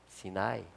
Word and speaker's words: 시나이: 이게 뭐냐면 시나라 그래요 이거 시내산의 원래 발음이에요 시나이 나이나이 시내산에 그 이제